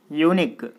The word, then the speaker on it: unique: Here unique. So even though the first letter U is a vowel, we are pronouncing it as a consonant sound, with a consonant sound.